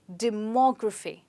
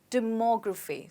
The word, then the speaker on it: demography: have this word well in this word we stress on mo okay so you say it like demography demography so the stress is on more let's try it again